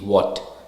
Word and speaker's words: what: it comes to H the letter H is usually silent when it appears after W for example why and what we never stress on H here so it's y w y and what w a t what now let's go with